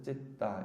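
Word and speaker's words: citta: 그리고 T는 따로 발음합니다. 쌍디읒으로. 근데 이제 T가 2개 있으니까 하나는 받침으로 들어가는 거죠. 그래서 찌따 이렇게 표현합니다.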